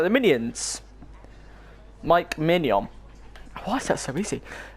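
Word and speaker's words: Maignan: In French, in France, it is said as Mike Mignon. Mignon. Mike Mignon. Very straightforward once you know. That was Mignon. That was like the Minions. Mike Mignon.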